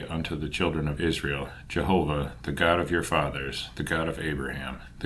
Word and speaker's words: Jehovah: The name of God, which we at a venture pronounce Jehovah, although whether this is or is not the true pronunciation can now never be authoritatively settled, was ever held by the Jews in the most profound veneration.